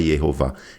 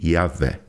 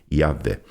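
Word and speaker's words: Yahweh: eles dizem realmente que a pronúncia de Deus ela não é não é Jehová, ela é provavelmente Yahé, tá?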